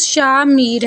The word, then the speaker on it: شامیر: پر وہ نام ہو۔ شامیر جو نام ہے اس کا درست تلفظ شامیر ہے۔ شاہ اور میر دونوں